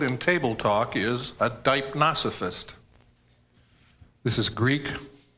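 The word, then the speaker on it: deipnosophist: A person skilled in table talk is a dipnosophist.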